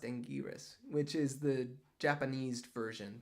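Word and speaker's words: Anguirus: Godzilla's best friend Godzilla's best friend is in Angus Angus I got it wrong in the video I made an entire video about Angus and um it's pronounced angiris which is the Japanese version the japanized the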